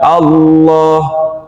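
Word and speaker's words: الله: Sekarang kemudian kita baca Allah. Coba Allah. Ketika lam berarti dia harus nempel ke gusi yang atas.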